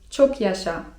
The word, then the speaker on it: çok yaşa: szerefe) Z kolei jeżeli ktoś kichnie i chcemy mu życzyć zdrowia to możemy powiedzieć: çok yaşa (czyt. czok jasza) I to dosłownie oznacza 'żyj długo'.